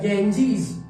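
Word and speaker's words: Ganges: Second, the गैंजीज dash A Holi river, जिसको अपन गंगा कहते हैं। ब्रिटिश प्रोनाउंसिएशन इसका क्या होगा? गैंजीज।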